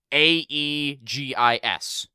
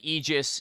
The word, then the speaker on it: aegis: thank you for a aegis that's spelled a-e-g-i-s so it's like aegis aegis yeah i guess depending on your regional accent okay um yes thank